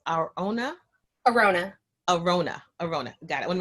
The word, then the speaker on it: Arounna: Arona.